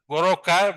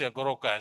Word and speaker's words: Goroka: So when the uh Europeans come in the 1934 or something they try to pronounce the word uh they find it how to uh pronounce the retroflex but the goto stop. So they have this goroka.